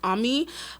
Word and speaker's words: Ami: Her name is not Amy, her name is Ammy.